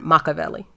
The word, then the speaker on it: Machiavelli: But hip-hop heads will know of Machiavelli, even though they pronounce it different, Machiavelli.